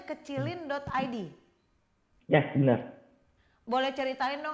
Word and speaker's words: kecilin.id: Bacanya kecilin.id.